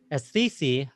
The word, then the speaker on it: Aisthisi: this project as a whole uh it's called pronounced sisi uh pronounced uh or spelled a i-s-t-h-i-s-i i'll